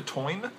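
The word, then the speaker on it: Táin: this is called the Toyne it's spelt tame as in ta I am but it's pronounced time as you can tell by this interesting little symbol above the a and this is about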